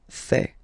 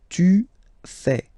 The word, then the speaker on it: fais: Je fais. Remember, final S not pronounced. Je fais. Tu fais.